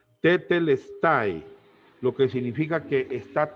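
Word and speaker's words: τετέλεσται: tiene una palabra griega que se es se pronuncia tetl style lo que significa que está terminado nuestros pecados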